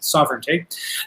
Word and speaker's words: sovereignty: kingship or uh sovereignty i always want to add an extra syllable to that word and say serenity but it's sovereignty uh right and we